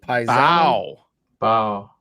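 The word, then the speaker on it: Mbow: Marcus the bow bow. The M is silent. Bow bow.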